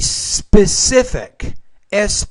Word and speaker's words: specific: It's a specific, specific distance apart. So with that consonant cluster, you're not clearly pronouncing those first 2 sounds.